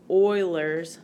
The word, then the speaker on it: Euler: and this is really often referred to as Euler's number I know it looks like uhler but it's pronounced Euler Euler's number so unfortunately there is